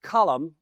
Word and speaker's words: Colm: Uh, it's spelled C O LM, but it's pronounced column like a newspaper column.